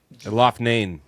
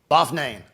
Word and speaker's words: Loughnane: All right, so hey, who can pronounce Brendan's last name? Dude's a fucking G. Loughnane. Loughnane.